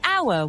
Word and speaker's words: hour: However, it gets interesting when spelling and sound are different, like the word hour where the H is silent, so we say an hour, not a hour.